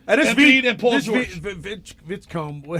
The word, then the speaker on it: Edgecombe: Vitzcombe. How do you say it? VJ Edgecombe.